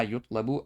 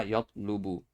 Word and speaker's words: يُطْلَبُ: Number one, notice that I pronounced this as ma yutlabu. I did not pronounce it as ma yatlubu.